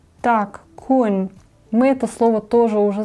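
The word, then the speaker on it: คุณ: То есть кун это ты. Тоже запишем. Так. Кун. Здесь у нас средний, да, средний тон.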